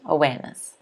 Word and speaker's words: awareness: um someone just asked is that a silent r i'm pretty sure you're talking about awareness and yes it is you do not say awareness awareness awareness okay awareness nice let's move on